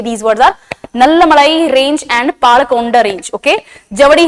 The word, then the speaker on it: नल्लामलाई: इसको इंग्लिश में नल्लामलाई रेंज बोलेंगे एंड पालकोंडा रेंज बोलेंगे, बट the true way टू से these words are नल्लामलाई range and Palkonda range.